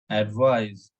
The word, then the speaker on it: advise: as advice advice and if it is s e then it should be with z uh sound it's like advice advise and there is a